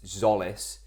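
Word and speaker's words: Tzolis: For the audio listeners, I know it's Zolis, but I will continue to pronounce his name Jolis until he actually looks like a footballer.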